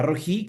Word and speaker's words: Rohi: recibe, se llama Jehová Rojí. Se escribe R-O-H-I, Jehová Rojí, que significa el Señor